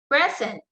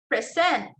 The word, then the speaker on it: present: In noun, the stress there is on the first syllable. So let's try. Present, permit, subject, rebel, record.